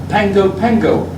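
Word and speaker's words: Pago Pago: Double G in Greek is pronounced as in ng. The same is I remember so well that's pronounced Pango Pango.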